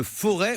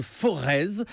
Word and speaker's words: Forez: On va très précisément, Olivier, dans le pays de Forez, ou alors de Forez. Apparemment, le Z se prononce, selon certains auditeurs qui nous ont appelés ce matin.